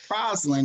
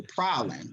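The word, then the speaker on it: Praslin: it like calling it prison it's actually problem the s is silent okay um and then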